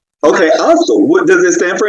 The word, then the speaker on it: AOSTL: Yes, it's pronounced Ostel. Okay, Ostel.